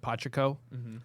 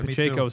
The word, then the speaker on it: Pacheco: it was I think in my head I always said pachiko yeah Pacheco actually sounds like um and the